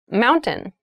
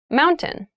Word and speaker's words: mountain: it sounds like mountain the t sound is reduced the little town was